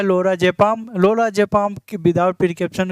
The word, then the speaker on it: Lorazepam: बात करने वाले हैं 81 जो होता है लोरो जपान होता है लरा जपान मतलब लोरो जपाम स्पेलिंग भी रंग है रुकिए मैं अ भी